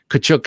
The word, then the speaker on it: Kachuk: Kachuk is how Max's fans have corrected me in pronouncing so many times.